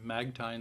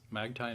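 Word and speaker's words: Magtein: of magnesium is patented and now produced by magtine science magtine is spelled m-a-g-t-e-i-n magtine science several supplement companies sell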